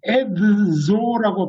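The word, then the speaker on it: edzo: 이걸 에드조라고 발음해야 되느냐 아니면 에조라고 발음해야 되느냐, 이걸 드즈를 하나로 묶어서 발음해야 된다 이렇게 주장하는 사람들도 있어요. 그래서 여러분은 그러지 말자. 에스페란토가 한 글자 한 소리라는 대원칙이 있으니 거기에 우리가 따르는 게 좋겠다. 그래서 가능한 한 에드조 그렇게 발음하라고 말했어요. 저도 그걸 찬성합니다.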